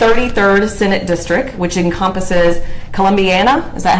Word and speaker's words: Columbiana: So you represent the 33rd Senate District, which encompasses Columbiana, is that how you pronounce that?